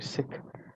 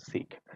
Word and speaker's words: Sikh: if you pronounce it correctly it should be sick and if you pronounce it within the English tongue it's the Sikh but if you look at the traditional Punjabi